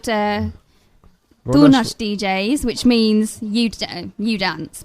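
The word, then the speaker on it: Tu Nach: It's called Donash DJs, which means you dance, basically.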